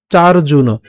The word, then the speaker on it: চার্জুন: জন্মানি তব চার্জুন। এখানে যে রেফ আছে, রেফটাকে আমরা আগে উচ্চারণ করলাম, তাহলে উচ্চারণটা হবে চার, তারপরে হবে কি জুনো, চার জুনো।